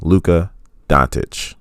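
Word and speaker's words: Luka Dončić: Luka and a viewer let me know that I was pronouncing a Lucas last name wrong it's Luca Datuk you know hopefully I got it right this time I do appreciate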